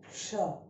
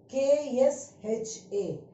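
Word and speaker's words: क्ष: Now the first one we pronounced as ksha, ksha, k-s-h-a, ksha.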